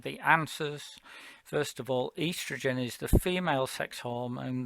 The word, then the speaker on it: estrogen: of the spelling uh estrogen is uh probably better in your mind pronounced earth's region because that's literally what it says and maybe that will help you say bit of a scottish accent sometimes helps with that as well um okay estrogen and